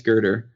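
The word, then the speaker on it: Grider: the udemy courses by Stephen gerder or Grier I think it's gerder yes yes uh he has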